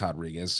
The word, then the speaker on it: Rodriguez: It is Rodriguez. It's a Brazilian thing. Someone came up to you and they were like, "Hey, Herod, what's up?" You know, because the J sound makes a H sound in Spanish.